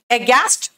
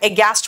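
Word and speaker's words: aghast: with surprise flub गस्ट एस्ट flub गस्ट देखो एस्ट एस्ट नहीं बोलते बेटा ए गस्ट बोलते एच साइलेंट है ए गस्ट फ्लब गस्ट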